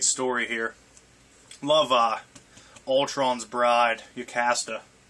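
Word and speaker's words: Jocasta: Love Ultron's bride, Yocasta. Yocasta. I always used the J as a Y.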